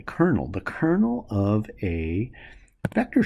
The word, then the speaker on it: kernel: called the the kernel not like kernel in the Army but it's spelled differently kernel the kernel of a